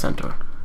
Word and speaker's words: centaur: that Shield there a centaur yeah it's pronounced Center but like the horse thing yeah the shield looked